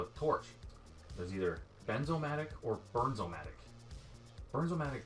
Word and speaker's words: Bernzomatic: We still get emails, people pronounce it wrong. Weird. That's very strange. So to you, it's always been BERNZOMATIC, but for some reason, stupid people call it BENZOMATIC?